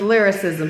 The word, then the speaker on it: Lilrickcism: she said little Rick said his name is lyricism she says yes I mean if people know